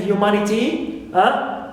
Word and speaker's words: humanity: all right also T like in humanity T not stressed me not stressed and Ma third one an ntimate is stress